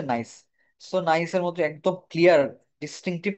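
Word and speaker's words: gneiss: উচ্চারণ হচ্ছে নাইস।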